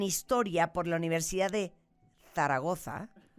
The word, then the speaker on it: Zaragoza: No, Zaragoza, con 2 Zetas.